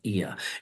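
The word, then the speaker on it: Oia: make your way to the spectacular town of eia it's spelled o i a looks like Oya but it's pronounced e in uh Greek here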